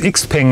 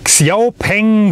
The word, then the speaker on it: XPeng: Und übrigens XPeng, ne, es gibt ja so Leute, die sagen, XPeng, falsch ausgesprochen, das spricht sich ja Xiaopeng, wie auch immer aus.